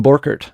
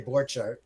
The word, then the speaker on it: Borchardt: So that's how we say it in the Midwest. If you go to Germany, they say Borchardt.